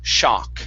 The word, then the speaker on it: shock: um this word here give me a little bit more a sound so it's shock shock shock shock there you go